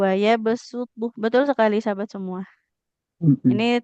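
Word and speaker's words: ويبسط: Itu bacanya berarti sin ya Ustazah, Ya, bukan betul. sod. Waya besutu.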